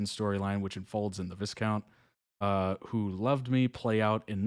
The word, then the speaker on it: Viscount: I think you said that, Luke. S is silent or something.